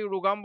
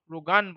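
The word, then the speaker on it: RhoGAM: drug সেটা হচ্ছে রোগাম কিছু মেডিসিনের বইয়ে রোগাম বলে কিছু মেডিশনে বলে রোগান বলে তো both correct best on pronunciation আর কি তো এই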